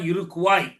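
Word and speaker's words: Iroquois: தப்பா இலிநாய்ஸ்ல்லாம் படிப்பாங்க இல்ல அது பிரஞ்ச் மொழியில அந்த உச்சரிப்பு இழிநாய் அதுபோல இருகுவாய் என்பதுதான் இருக்குவாய் அந்த இருக்குவாய் இனக்குழுவினர் மத்தியில் போய் இவர் வாழ்ந்தார் இருக்குவாய்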